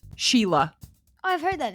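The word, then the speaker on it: Síle: s i l e we'd say Sy it's pronounced Sheila oh I've heard that name before yeah but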